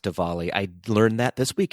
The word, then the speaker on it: Diwali: pronounced diwali not diwali it is pronounced divali i learned that this